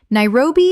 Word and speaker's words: Nairobi: Nairobi. Common mispronunciation. Nai-ro-bi. Correct pronunciation. Nai-ro-bi. Three syllables with the stress on the second. Example. Nairobi is one of the most dynamic and rapidly growing cities on the African continent.